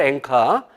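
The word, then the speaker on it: 演歌: 이런 거니까 근데 사실은 엔카 연가가 이 3월 년 자가 아니라 펼칠년 연설하다 할 때 연가하고 그래서 일본식 발음으로 엔카 그리고 그 연설가의 준말이에요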